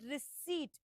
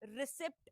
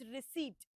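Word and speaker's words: receipt: सो, the pronunciation is रिसीप्ट। इट इज़ नॉट रिसीप्ट ore anything else. It's रिसीप्ट।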